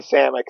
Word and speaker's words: Samek: Samek. Close enough. How do you say your name? It's actually Samek, so it's close enough. Sam, and you're known on some of the forums as.